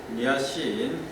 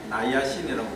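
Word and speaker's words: niacin: 그 다음에 최근에 그 비타민 위에 비타민 B1, B2, 니아신, 나이아신이라고 발음하기도 합니다.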